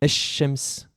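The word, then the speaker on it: الشمس: Le de l'article el, représentant le, la ou les, ne se prononce pas si le mot qu'il définit commence par une lettre solaire.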